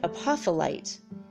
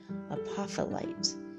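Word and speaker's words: apophyllite: that guys all right a puffle ight apop hy l li T a puffle ight this is a stone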